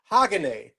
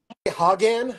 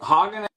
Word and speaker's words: Hagane: People say Hagan, but it's Japanese, so it's Hagane, I believe. Hagane?